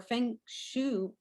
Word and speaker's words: feng shui: Sandra also earned her Feng Shui certification from New England School of Feng Shui.